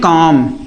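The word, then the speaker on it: comb: हम इसको पढ़ते हैं काम।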